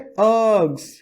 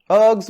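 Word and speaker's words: ergs: इसको बोलते हैं अर्ग्स। सर आर तो आया नहीं, आर साइलेंट है, सन्नाटो आर साइलेंट है, अर्ग्स बोलते हैं इसको।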